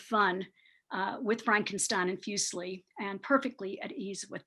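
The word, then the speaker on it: Fuseli: the beginning here um i pronounce the name fusely uh as i've been saying it fusely like muesli the you know the swiss uh cereal and he is swiss some people however say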